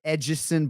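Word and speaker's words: Edson: you just call him edgeson barboza because you got a brazilian girlfriend did you just call him oh that's a lot i mean that's how his name is pronounced is it not i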